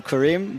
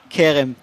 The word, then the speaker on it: Kerem: We almost switch her name to, instead of Ayala Kerem, to Karim, but I mean Kerem. That's the right pronunciation.